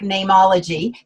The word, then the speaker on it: Neimology: i could not trademark nameology because you can't trademark a common word like name and so my dad said spell it like the latin so it's n-e-i-m and just call it name ology and then we could